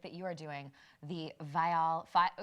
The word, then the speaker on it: Viall: Well, I gotta ask you about a new project that you are doing, the Viall. Can we say it Vial Files so that it rhymes?